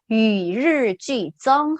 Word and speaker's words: 与日俱增: 아, 발음이 좀 어려워요. 그죠? 자, 천천히 다시 같이 읽어봅시다. 시작. 위르쥐정 한 번 더.